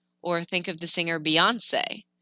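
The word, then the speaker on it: Beyoncé: think of the singer beyonce that e on the end gets pronounced if you forget it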